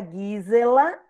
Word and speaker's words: Gisela: G em alemão é Gui, aí fica Gisela.